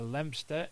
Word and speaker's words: Leominster: field in Eye near Leominster in Herefordshire in 2015. Look at me being able to pronounce Leominster right instead of people saying Leominster.